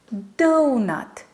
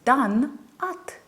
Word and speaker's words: donut: So it's nut, donut versus done-ut.